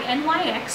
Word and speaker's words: NYX: The other two products are both by NYX or NYX, whichever way you want to pronounce them, and this I